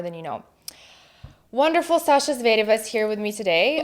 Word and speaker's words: Zvereva: But for public, I'm Sasha Zvereva, like with Russian accent. Zvereva, specifically Zvereva. Because Americans say Zvereva for some reason.